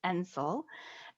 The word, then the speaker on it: NCIL: I am pleased to represent the National Center on Improving Literacy, abbreviated NCIL and pronounced NCIL.